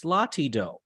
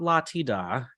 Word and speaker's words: Latido: So it's Latido, LA space TI space DO, Latido. For the musically inclined people, that is part of the solfege syllables. So do, re, mi, fa, sol, la, ti, do. It is not la, ti, da.